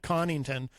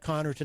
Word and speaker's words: Connarton: spate of videos has managed to pronounce my last name correctly which is stunning usually he calls me connington but he's actually managed to get connerton out but apparently yeah so